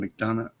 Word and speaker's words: McDonough: uh how do you say his last name mcdonough uh oh uh neil mcdonough hang on i